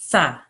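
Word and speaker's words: ث: Tha. Good. Well done. Really soft TH sound. Tha. Sa. Tha. Sa. Tha. Imagine you're saying the word thing, where you have a very soft TH sound at the beginning.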